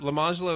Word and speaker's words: Lemonjello: Lamangelo is spelled Lemonjello.